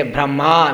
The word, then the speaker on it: Brahma: a masculine word brahma so when we say brahma with a long a it refers to lord brahma we're talking about and